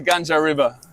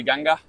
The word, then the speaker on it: Ganga: But I thought it was Gangas. How do you say maybe in German? How do you say in your g the G River? That's why she said G maybe. Yeah. But yeah, in India they say Ganga.